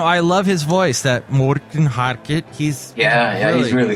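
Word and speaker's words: Morten Harket: if if if you if you want to pronounce it the real Norwegian way you just you should sound like this Morton haret you it's more even more like the the Swedish Chef it's more you know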